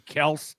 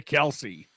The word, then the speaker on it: Kelce: his old man for changing the pronunciation from Kels to Kelsey. Why did he? Because he said everyone was calling him Kelsey anyway.